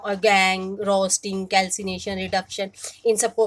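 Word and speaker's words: gangue: इसमें जो पूछा जाता है गैंग, इसकी प्रोनाउंस गैंग, इसकी डेफिनेशन आपको लर्न होनी चाहिए।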